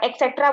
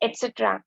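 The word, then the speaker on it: et cetera: हम बोलते हैं कभी कभी स्पेलिंग एरर भी हो जाता है लिखने में, क्योंकि हम बहुत सारे बच्चे एक्सेट्रा बोलते हैं, एक्सेट्रा। Okay, so इट्स एटसेट्रा।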